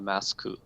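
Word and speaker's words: マスク: Yeah, so there's a Shin Godzilla Masku. Masku, that's how you say it in Japanese.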